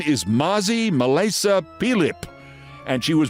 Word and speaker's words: Mazi: And her name is pronounced Mazi, but it's spelled M-A-Z-I. You know, like Nazi, but with an M.